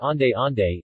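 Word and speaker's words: onde-onde: clapping pronounced clip-on or owned owned pronounced on day on day is a traditional green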